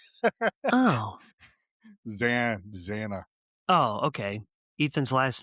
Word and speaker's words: Xana: Yeah, you keep pronouncing it wrong. Oh. Xana.